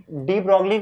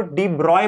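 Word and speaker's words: de Broglie: actually डी ब्रॉगली को डी ब्रॉय बोला जाता है, लेकिन अब मैं डी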